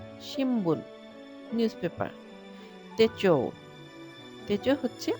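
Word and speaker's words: 新聞: শিনবুন, news paper. এখানে একটা ছোট্ট নোটস আছে, যেমন এন আর বি যদি পাশাপাশি থাকে তখন এন এর উচ্চারণটা অনেক সময় এম এর মতো হতে পারে, তখন আমরা বলবো শিম্বুন, নিউজ পেপার।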